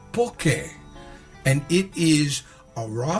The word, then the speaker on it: poke: This is poke on the mainland. In Hawaii, it's pronounced poke, and it is a raw fish dish prepared different kind ways.